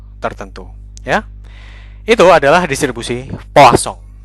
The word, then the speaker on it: Poisson: ya itu adalah distribusi posong membacanya bukan distribusi poisson tentu saja karena polsong ini nama orang Perancis ya dibacanya adalah distribusi eh pocong ya Apa yang disebut